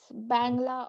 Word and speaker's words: Bangla: is called bangla right is that how it's pronounced yes bangla or bengali in bangla or bengali and how